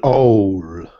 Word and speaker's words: owl: It's an owl. Owl. Owl. Very owl. Good. Yes. Owl. Owl, owl, owl, owl. When you see owl like that, it's usually going to be owl, like pow, cow, sow, how, bow.